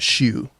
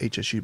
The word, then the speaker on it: HSU: It's actually pronounced shoe. Everybody says HSU, but it's pronounced shoe.